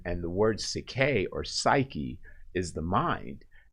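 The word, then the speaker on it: ψυχή: actually in greek uh it is psyche or cicay is how it's pronounced but psyche is literally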